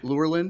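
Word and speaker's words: Lurelin: the wild um near lurlin Village how you pronounce that yeah yeah lure Lynn yes yeah there's a Beach area and there's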